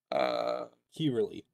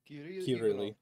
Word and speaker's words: Kirill: Kirili, if that's how the name's pronounced. What? The person in chat whose name was in Russian. How's it pronounced? Kirili. Or Kirill. Kirill? Yeah, Kirill.